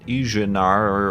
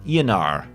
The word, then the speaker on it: Ianar: Ianar has corrected me on how I pronounce their name, not Ijanar or whatever I said. Ianar.